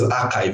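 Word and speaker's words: arXiv: One of them is archive. A RX IV it is spelled where a R is small letter, X is capital I and V are small letters.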